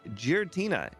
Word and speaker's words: Giratina: Today, we're going to be playing Giratina in Gen 1. Hopefully, I said that right. Giratina. You were close. Okay. Yeah. Actually, Giratina.